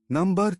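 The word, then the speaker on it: knee: principal person है जैसे school principal A फॉर पाल यानी फ्रेंड प्रिंसिपल सिद्धांत है रूल या theory number three stationery versus stationery stationery E फॉर एनव्लप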